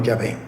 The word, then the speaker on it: Yahvé: del pueblo de hebreo, ellos pronuncian como Yahvé. Entonces a nosotros nos ha llegado a través de los samaritanos la expresión Yahvé.